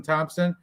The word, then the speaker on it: Thompson: And Thompson, there's no P like it was an American Thompson. So it's Thompson, not no Thompson.